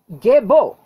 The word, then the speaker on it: Gebo: This is Gebo. You know it as the letter G. It's pronounced G, as in gift.